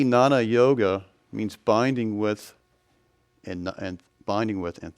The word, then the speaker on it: Jnana: This is the same word as used in Sanskrit. See, na. That J is silent. It means to know. or Jnana Yoga, which is knowledge of God.